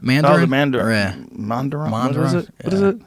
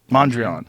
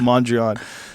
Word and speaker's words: Mondrian: place we want monitoring Mandarin Mondrian right yes see that when someone says something wrong sometimes you how do you say it right the Mondrian yeah that is right across the street